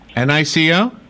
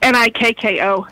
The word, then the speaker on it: Nikko: Nico? Nico-B? No, it's Nikko. Nikko.